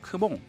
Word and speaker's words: CMON: 보듯 게임인데요 우리 바다에는 약자인 cmon 을 그대로 발음 해서 크몽 이라고 많이 부르기도 하는데 물론 이금옥 은 아니고요